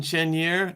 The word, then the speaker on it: Chenier: This is Chenier.